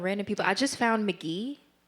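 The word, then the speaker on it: Mk.gee: I just found McGee H. He's this like rock. Yeah. Yeah. Yeah. Yeah. Yeah. You know who I'm talking about. He's like this like alternative rock person. McGee.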